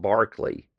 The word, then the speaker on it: Berkeley: Now, in one of the Barkley videos coming up, and it is pronounced Barkley, Berkeley is in California.